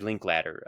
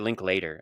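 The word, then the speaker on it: Linklater: Um, so this is a movie from, uh, Richard Linkladder. Um, or is it Link Later? It's spelled later, but I think it's pronounced Ladder.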